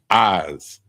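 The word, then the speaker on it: עז: The next one is goat, and it's pronounced eyes, like your eyes, but it's spelled I-Z, eyes, and that's goat.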